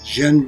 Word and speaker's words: Jian: hero her name is jen byrne she's irish but she has a chinese first name because her mother is taiwanese jean is spelled j i a n so about jen